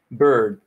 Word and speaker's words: bird: Bird. Es como si la I desapareciera y solo se pronuncia bird. Las consonantes, bird.